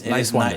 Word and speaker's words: Niswander: Talking to Niswander. But it's Niswander. just think nice and wander.